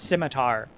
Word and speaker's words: scimitar: I know that it's So, real quick aside, I know it's pronounced scimitar, but this is this is a European man writing this and I'm an American, so I'm pronouncing it schmitar because I feel like that's more realistic to